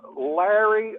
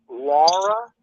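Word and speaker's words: Lari: of the country singer Larry uh no Laura why it's spelled l-a-r-i why she died a few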